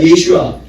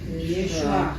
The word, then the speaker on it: 예슈아: 근데 예수라는 이름이 뭐냐면 따라합니다. 예슈아. 예슈아. 예슈아. 예슈아. 원으로 발언하는 거예요. 원으로 그 원으로 그대로 발음하는 거예요.